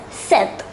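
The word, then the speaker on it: sept: 7 is set here we need to note that the letter p is silent so number seven is pronounced as Seth it width nine enough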